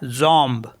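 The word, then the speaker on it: jambe: होता है lamp and जे ए एम बी ई तो यह हो गया जम जम मीस होता है लेग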